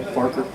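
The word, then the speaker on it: McFarquhar: his name is McFarker. Yes, but it's not really spelled like that. It's like Farquhar. It's British or Scottish or something.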